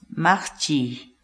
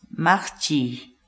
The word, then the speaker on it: maqchiy: de vídeos en la que te enseñamos a pronunciar algunas palabras en quechua así que nuestra palabra del día por hoy es max ching max ching max ching la palabra quechua nachi en español significa lavar